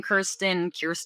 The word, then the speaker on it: Kristen: I'm like, I'll answer Kristen, Kirsten, which is how you say my name, but I don't blame people.